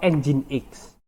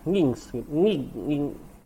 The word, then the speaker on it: nginx: Apache atau enzim X ini bacanya engine.exe Ya bukan nginx ya dulu saya patuh kuliah pertama kuliah-kuliah tuh menjeratnya ini adalah ngingsep ternyata ini adalah enzim X kayak mesin ya pakai